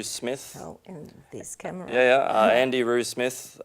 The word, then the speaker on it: Andy Roo Smith: Andy Roo Smith, as it's spelt, Roo as in kangaroo, ANDYROO SMITH.